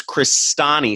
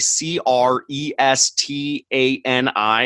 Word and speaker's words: Crestani: Last name is Crestani, Crestani. It's Italian. Yeah, it's hard to spell and pronounce.